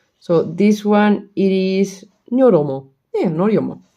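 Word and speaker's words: ニョロモ: No, this one I'm sure I pronounced it wrong. So this one it is Nyoromo.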